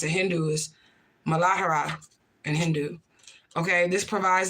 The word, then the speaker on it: Muladhara: The root chakra is how you pronounce it. Hindu is Muladhara in Hindu.